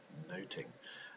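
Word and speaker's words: nothing: the title that of noting much to do about noting as the play would have been pronounced.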